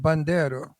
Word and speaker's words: Bandiero: No, he's Italian. Yeah, that's how you say it, Bandiero.